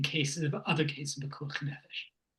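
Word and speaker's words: פיקוח נפש: It would not apply in cases of other cases of Pekuach Nefesh. Pekuach Nefesh. No. You're putting the emphasis on the wrong place again.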